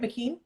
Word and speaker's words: Mckean: So Scott Mckean, am I saying that right, Mckean? Yep. I just want to make sure I'm pronouncing it right.